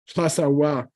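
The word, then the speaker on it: Lhasawa: The third syllable it's an option to say wa instead of ba. Like if you're from Lhasa, you should call yourself a Asawa. Lhasa wa.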